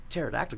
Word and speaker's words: pterodactyl: But focus on the fact that, why can't you hear a pterodactyl go to the bathroom? Because they're dead. Because the P is silent.